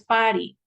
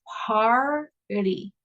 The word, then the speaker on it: party: No es, no es pari by the way, porque pari es basenilla, así como donde orinan los chiquitos, ¿verdad? Entonces no es party, es party o party.